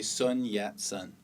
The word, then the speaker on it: Sun Yat-sen: standardized Chinese called Mandarin this man's name is pronounced son John shun though he did speak Mandarin he natively spoke Cantonese which means he would have pronounced these characters quite differently one way to romanize the Cantonese pronunciation of these characters gives us this and that's why we say Sun yat-sen romanization means transcribing the